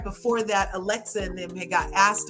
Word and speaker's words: Alexia: I love you, Curves, but you always say Alexia's name wrong. It's not Alexa. It's Alexia. It's Alexia.